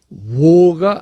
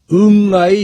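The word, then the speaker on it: 我: 의미로 확장이 되었다고 그럽니다 그런데 아자의 고대 발음 곧 동이족의 발음은 지금 우리가 사용하고 있는 아나 현재 중국 중국인이 사용하고 있는 오가 아니라 응아이 였다는 사실입니다 뭐 내가 정확히 발음하지 못하겠는데 어쨌든 표시를 하자면 응아에 가깝습니다이 응아 발음이 문자에서 응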